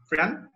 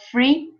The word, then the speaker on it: friend: Friend? Friend. Avoid Friend? pronouncing the I. Friend. No free, friend, no, friend.